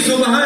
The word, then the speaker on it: صبح: صحیح تلفظ ہے صبح، ہم اردو میں صبح کہتے ہیں.